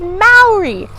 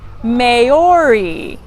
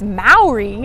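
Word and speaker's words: Māori: wrong country and while we are talking about pronouncing things right you might have noticed that I said Maori not Maori and that's because Maori is the correct way to pronounce the name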